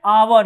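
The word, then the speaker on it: hour: आवर है। इसका उच्चारण देखिए क्या होता है?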